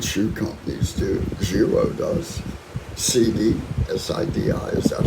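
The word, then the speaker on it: Sidi: CD, S-I-D-I, is that how you pronounce it?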